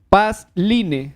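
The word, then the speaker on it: Passline: pueden redactar en Google, tipean Pasline. Se escribe Doble S.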